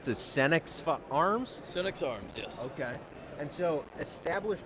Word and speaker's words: Senex: So we are here today with, how do you pronounce this, Senex Arms? Senex Arms, yes.